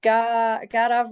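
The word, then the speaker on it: garbh: So Garav, we need to stick that extra syllable in there.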